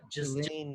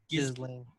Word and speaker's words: Ghislaine: Yeah, it's G-H-I-S. Yeah, Ghislaine. Ghislaine. Ghislaine or something like that. Maxwell. They try to say it. They try to make it sound pretty, but it's like, then why is it spelled like that?